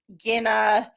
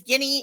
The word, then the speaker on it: Guinea: from Sagal and um Guina and it's Guinea. I said I I think I said it right before man and I said it wrong this time.